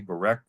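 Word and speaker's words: Borek: Then there's Depot 4, which is spelled B-O-R-E-K, Barek.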